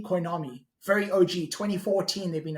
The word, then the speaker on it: Coinomi: A lot of people pronounce it strangely. Coinomi. Coinomi.